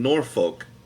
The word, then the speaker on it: Norfolk: And he's like, and don't go saying Norfolk. It's not folk. It's Norfolk. Norfolk. Oh, Norfolk, huh? See, It's Norfolk. we have a Norfolk here, but it's pronounced Norfolk. Yeah, So that's interesting. yeah. It's because of the Tidewater accent.